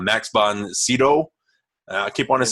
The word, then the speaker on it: Max von Sydow: So, Flash Gordon, 1980, Dino De Laurentiis production, directed by Mike Hodges, starring Max von, I'm going to say it wrong, Max von Sydow.